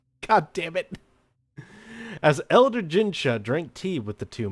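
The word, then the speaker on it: Jinchi: As Elder Gincha, not Ginshu, Gincha. God damn it. As Elder Gincha drank tea with the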